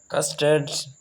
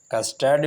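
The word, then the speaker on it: custard: अगर American English को आप देखें तो फिर आपको आर साइलेंट नहीं बल्कि आपका प्रोनाउंसिएशन भी करना होगा, और अगर आप यूके में देखें तो फिर कस्टर्ड आर इज साइलेंट।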